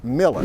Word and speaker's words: Mueller: The way it's pronounced in Austin is Miller. Okay, so let's try this again. Today we're going to talk about housing options in the Mueller District in Austin.